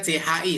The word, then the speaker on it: q: yang Q ini ci, coba ci. 치, Ya, 치, ya, seperti 치. bersin ya, seperti kita mau bersin. Haci, nah, ci, nah itu dia. Ya, jadi dia CHI seperti kita mau bersin seperti itu.